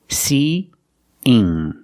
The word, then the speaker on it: seeing: So we have the E sound 2 times. That's the long E sound like green beans 2 times. See-ing. We link these vowels with the y sound. But it's not a very hard y. It's a light y. Together, see, seeing, seeing.